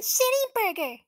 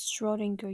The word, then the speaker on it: Schrödinger: your name isn't even shitty Burger first of all it's pronounce Shing girl you dumb ass second look